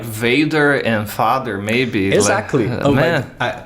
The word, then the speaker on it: vader: I think you know where the name Vader came from, right? Star Wars? Yes. Here's the thing. It's not the same. It's the same spelling. Okay. But I think the pronunciation is vader, is father in Dutch.